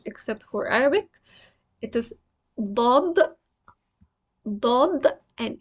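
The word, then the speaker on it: ضاد: It is Daad, and it's a heavy D. It starts heavy, doesn't end heavy.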